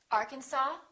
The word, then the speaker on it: Arkansas: cupboard say cupboard my kitchen cupboard silent s Arkansas Illinois Island debris all right one more silent